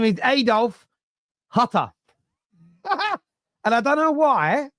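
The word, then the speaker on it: Hütter: Sorry, Hutter is how you pronounce him.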